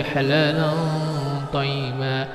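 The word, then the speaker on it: حلالا طيبا: Jadi cara membacanya fil ardi halalan thayyiba, halalan thayyiba. Lan ini disamarkan, dipanjangkan 3 harakat baru dibaca ketok ini.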